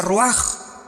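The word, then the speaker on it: רוח: Se pronuncia roaj. Por ejemplo, cuando hablamos del Espíritu Santo, el Espíritu Santo es roaj, el cadosh.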